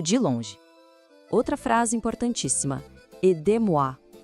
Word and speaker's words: aidez-moi: E olha só que detalhe: o Z de aider gruda na palavra moi e isso cria um som de Z entre as duas. Escuta só, com atenção. Aidez-moi. Vamos repetir juntos? Aidez-moi.